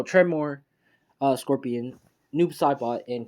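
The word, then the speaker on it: Tremor: or earth guy or tomorry hold on okay sorry my guys i i said it right this time uh i'm going to say the right this time try more so treymore uh scorpion noob sci-fi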